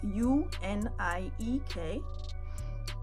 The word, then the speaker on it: uniek: So I'm telling this story because the word unique is spelled U-N-I-E-K. And that's how the Dutch people say unique. So it's uniek, actually, Uniekgrace.